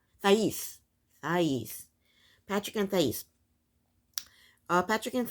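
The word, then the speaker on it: Thaís: Next is Patrick and how do you pronounce her name? Thais.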